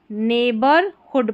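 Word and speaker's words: neighborhood: नेबरहुड पढ़ेंगे इसको. ठीक है, आस पड़ोस जो रहता है, नेबरहुड में GH साइलेंट है.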